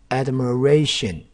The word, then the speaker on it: admiration: ，admiral，看到 ration 前面的这个 ir，这个 r 被拆开来了哈，所以这个会发耳的音，这念什么？这念 admiration 就是羡慕。admiration 就变成 admiration，ration 这 ir 拆开来了，前面这 i 这发耳的音